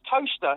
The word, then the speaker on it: Towcester: It's Towcester, Toaster, not toast as in...